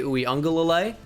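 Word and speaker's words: Uiagalelei: should recognize whether it's dj ooey ungulalay that's how you pronounce that by the way in case you didn't know ue galilei i mean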